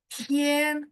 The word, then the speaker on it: 天: Tian, oh, tian 1.